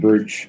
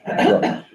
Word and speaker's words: Brooke: Is that how we say, it's not Brooch? Brooke. Brooke. Sure.